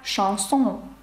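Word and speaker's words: chanson: Таке слово як «шансон». «Шансон» – це пісня французькою мовою. І ви вже знаєте, як передається звук «ш» через сполучення «ch». Ну і ще такий приклад,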